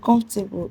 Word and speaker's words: comfortable: The comfortable is stressed on comfortable is stressed on FOR, and immovable is stressed on MO.